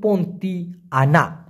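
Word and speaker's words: Pontianak: পন্তি আনা, পন্তি আনা অনেকে উচ্চারণ করে, তবে মূল উচ্চারণটা কিন্তু পন্তি আনা, মানে হলো শাকচুন্নি।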